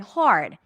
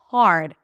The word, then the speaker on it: hard: The second one has the R as in car. Hard. Okay. Now, if you pronounce the second word, hard.